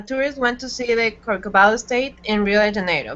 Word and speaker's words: Corcovado: Corcovado. Okay, okay. Thank you very much. Perfect. I am pronouncing by my Spanish.